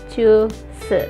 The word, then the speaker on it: 주스: So, it's orange juice in English, but in Korean, it's 오렌지 주스, okay? 오렌지 주스. Juice is 주스, okay?